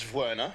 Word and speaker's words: Werner: are you in for the Werner or Verna are you going on the uh the the vdub I think it's Verna yeah it is Vera yeah that's the way they tend to pronounce it apparently nice work congratulations